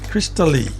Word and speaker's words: Krystalleigh: Crystal, it's supposed to be Krystalleigh. So it's Crystally. Crystally Alu.